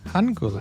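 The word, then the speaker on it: 한글: A reminder on this one, it's either an R or an L. And in this case, it's more of an L. Okay. Han. Gul. Hangul.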